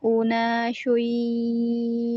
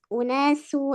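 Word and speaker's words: أُنَاسٌ: Wa ma kana jawaba qaumihi illa an qalu illa an qalu akhrijuhum min qaryatikum innahum unasyun yatatahharun. Oke, unasu itu sin ya. Oh, tadi bacanya shin ya, Afan.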